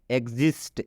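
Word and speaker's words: exist: और जब भी एक्स के बाद से आई आता है तो ई एक्स का उच्चारण एग्ज हो जाता है। एग्जिस्ट, एग्जिस्ट का मतलब होता है अस्तित्व।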